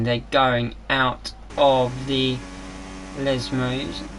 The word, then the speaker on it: Lesmo: They're going out of the Lesmos. Not Lesos, K Grande.